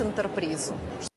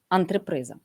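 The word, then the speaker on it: антреприза: Літерки переплутані в слові антриприза.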